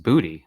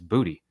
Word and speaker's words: Boutte: Boutte, and it was like it's just booty. Like It's when Boutte. he was drafted, we all looked up pronunciation.